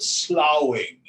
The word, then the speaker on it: slough: In American English, we talk about the snake sloughing off its skin. Swamiji used to call it sloughing. Same thing, S-L-O-U-G-H or S-L-U-F-F. They actually spell it differently.